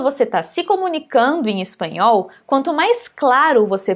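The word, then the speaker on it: español: gente vai para anunciar a pontinha da sua língua ela vai tá tocando o céu da sua boca então por exemplo essa palavra aqui o nome da nossa do nosso idioma espanhol no finalzinho você pode exagerar o mesmo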